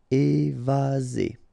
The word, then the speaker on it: évasé: Remember one S between two vowels. Z. Évasé.